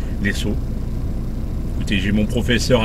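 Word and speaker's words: Lezo: Alors les saut L E Z O puisque ça s'écrit ça s'écrit comme ça et puis ça se prononce les saut.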